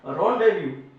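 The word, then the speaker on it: rendezvous: इसको क्या पढ़ेंगे, रॉन्डेव्यू पढ़ दो या रॉन्डेव्यू पढ़ दो, ठीक है। प्रोनाउंसिएशन उसका इसका रॉन्डेव्यू, ठीक है, फ्रेंच वर्ड है।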